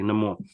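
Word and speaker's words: Namor: Ney more NE more NE more let me pronounce that properly NE more was amazing because I'm kind of so happy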